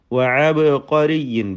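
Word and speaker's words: عبقري: വഅബ്ഖരിയിൻ, ബാഇൻ്റെ സുക്കൂൻ ഖൽഖല നൽകി ശബ്ദം ചലിപ്പിച്ച് വ്യക്തമാക്കുക.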